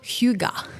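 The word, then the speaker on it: hygge: 2017 I believe it's called Huga it's spelled h y g g e it's a Danish concept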